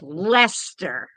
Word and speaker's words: Leicester: You pronounce it almost the same way, only with an E sound.